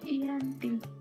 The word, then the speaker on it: Giyanti: Dalam pelafalan Belanda, ia tersebut sebagai Iyanti, dan secara tertulis ia terbaca sebagai Giyanti.